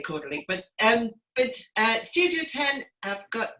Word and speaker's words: Caudalie: And she's taught me how to pronounce Caudalie. Caudalie. Let's say Caudalie.